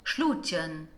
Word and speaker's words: Schluutjen: Let's hear how it's pronounced. Schluutjen.